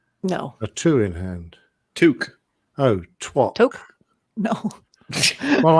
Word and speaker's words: toque: It's like chefs wear a toque.